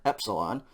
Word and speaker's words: epsilon: a long e and we had epsilon before which is the short e e e epsilon this is now going